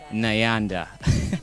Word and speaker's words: Nyanda: NYANDA. Well, I'm going to, give you a Ugandan name. Yeah, okay. We have a name that rhymes with NYANDA.